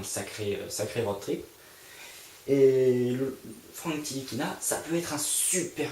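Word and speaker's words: Ntilikina: Frank N. Tilikina prononcé Tilikina. Donc c'est un meneur qui vient de Strasbourg, qui a joué à Strasbourg cette saison.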